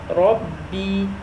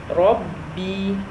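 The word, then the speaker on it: ربِّ: ba, so that means we have two ba in this scenario. One has a sukoon on top and the other one has kasra on top. So how we pronounce it? Rabbi, Rabbi, Rabbi.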